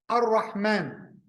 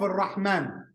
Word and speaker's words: Ar-Rahman: When we say Ar-Rahman, you see this syllable, man, alif and nun, it has sighat mubalagha, means what? It has form exaggeration.